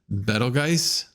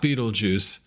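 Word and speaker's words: Betelgeuse: are being considered bellatrix better guys i believe that's how you pronounce it it's not beetlejuice it's better guys it's german uh botean uh brachium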